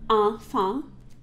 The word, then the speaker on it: enfant: So we have A-N, enfant. So we have A-N and E-N. Say that with me.